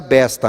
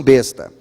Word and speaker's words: besta: Mas ninguém pronuncia besta, né? As pessoas pronunciam besta. Então, besta, e algumas pessoas pensam que besta que tem alguma coisa a ver com jumento lá no Nordeste. Não tem nada a ver, a palavra não é besta, é besta, a pronúncia correta, e a tradução literal